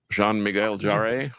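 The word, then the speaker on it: Jean-Michel Jarre: excuse me if I say it wrong, but Jean Miguel Yar, I believe is how you say it. Jean Miguel Jarre.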